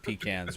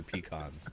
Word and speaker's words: pecans: It's just a variable pronunciation in line with pecans or pecans.